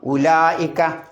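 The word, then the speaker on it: أولئك: അപ്പൊ ഉദാഹരണമായിട്ട് ഉലായിക്ക അവിടെ ഉലായിക്ക നമ്മൾ എങ്ങനെ എഴുതുക ഉലായി ഇക്ക എന്നാണ് എഴുതുക ഉവ്വ് ലായിക്ക നമ്മൾ ഉച്ചരിക്കുന്നതോ ഉലായിക്ക ആ വാവ് ഉച്ചരിക്കുന്നില്ല കാരണം വാവിന്റെ മുകളിൽ റൗണ്ട് എബൗട്ട് പോലുള്ള സുക്കൂൻ കണ്ടാൽ അറബിയിൽ പറയാം മുദവ്വറായ സുക്കൂൻ കണ്ടാൽ എന്തുണ്ടാവില്ല ഉച്ചാരണം ഉണ്ടാവില്ല അതുകൊണ്ടാണ് കഫറൂഹ് എന്ന് ഓതാതെ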